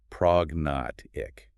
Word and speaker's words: prognathic: The cluster moves to the middle, the syllables divide the work, and the g is pronounced. Prog notic.